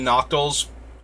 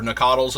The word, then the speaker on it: Nacatl: Very similar to the Noctals, or Nacatls as they're correctly pronounced.